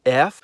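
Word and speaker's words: ф: In cerillic, it's called F or F. And the sound it makes is F.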